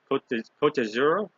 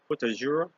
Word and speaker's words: Côte d'Azur: And then day after that, I said, we're going to I may not say it right, Côte d'Azur. Côte d'Azur.